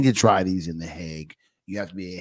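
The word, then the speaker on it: Hague: a special training to try these in the heg you have to be a heg lawyer and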